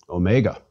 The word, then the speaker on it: omega: repeat psi and finally omega omega is big o mega o as opposed to micro o or omicron mega o is long like the o in open please repeat omega o